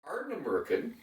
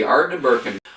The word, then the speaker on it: Ardnamurchan: Plus, the most interesting area, the Ardnamurchan Peninsula, I better pronounce it right, the Ardnamurchan, which is the most westerly part of the UK mainland.